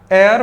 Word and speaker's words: heir: HEIR एयर पढ़ा जाता है, H साइलेंट है, उत्तराधिकारी और सक्सेसर को डिफाइन करता है।